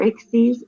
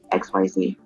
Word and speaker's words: XYZ: said it can be he said it can be pronounced either exceed exceed or XYZ so it actually can